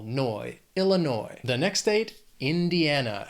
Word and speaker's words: Indiana: The next state, Indiana, has 4 syllables. Stress is on that third syllable. Indiana.